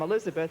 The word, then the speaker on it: Elisabeth: betty and of course southerners know how to drag out a name until it takes a lot longer or the hell they truncate a name my name elizabeth they make two syllables out of four they call me lisbeth but when it came